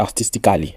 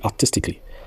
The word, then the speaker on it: artistically: On dit pas artistically. On dit artistically.